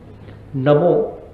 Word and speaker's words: नमो: नमो ना का उच्चारण मत करिएगा, ना है नमो। नमो में न, अ, म, ओ 4 शब्द हैं, और आप आश्चर्य करेंगे कि 2 आकाश, 1 वायु और 1 पृथ्वी। जैसे हमारा पूरा शरीर 5